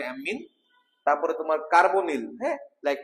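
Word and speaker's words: ammine: three কে বলতে হবে এম্মিন হ্যাঁ তোমার ডাবল ম দিয়ে উচ্চারণ করে এম্মিন তারপরে তোমার কার্বনিল হ্যাঁ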